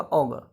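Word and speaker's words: augur: ठीक है, इसका प्रोनाउंसिएशन होगा ऑगर।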